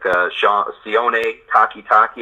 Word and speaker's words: Sione Takitaki: And guys like Sione Takitaki, I want to make sure I say his name correctly, you did well.